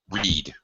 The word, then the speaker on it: read: okay but this is you pronounce it like red which would be past tense you you can use read read present tense uh okay I sometimes read a book on the